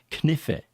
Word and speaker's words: knife: silent like knife is knife there's a K in there which you don't hear so I would tell